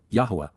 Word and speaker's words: Yahweh: Yahweh. The proper pronunciation of the name of Eloha God as directed in his Torah.